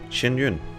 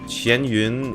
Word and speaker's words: Xianyun: Because the first bit, Xian in Chinese, is, if pronounced in that particular way, just means salty. And then Yun means cloud.